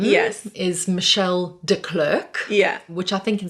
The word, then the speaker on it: De Klerk: said not correctly so how is your name pronounced correctly well my married name yes is michelle de klerk yeah which i think in south africa would